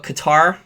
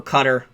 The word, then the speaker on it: Qatar: Now, the OPEC, there is what Qatar, or Qatar, depending upon the pronunciation.